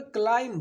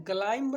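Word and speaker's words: climb: यहाँ पे क्लाइम, क्लाइंब नहीं होता है बच्चों, याद रखिएगा, क्लाइम नहीं होता, क्लाइम झटके से क्लाइम, क्योंकि बी साइलेंट है।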